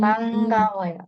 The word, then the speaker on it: 반가워요: Di sini ada bacim nian ketemu sama giok. Nah, kalau ada bacim nian ketemu sama giok akan dibaca seperti huruf eng. Tinggi. Bangawoyo.